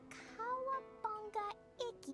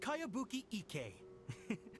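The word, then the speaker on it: Kayabuki Ikki: By Kawabunga Iki. Who's this Kawabunga? It's pronounced Kayabuki Ike.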